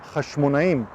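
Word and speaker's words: חשמונאים: There is no doubt today that Emmaus, which became famous in the battle of the Jewish dynasty named Hasmoneans, which in Hebrew pronounced Hashmonaim, and I've added a link to the video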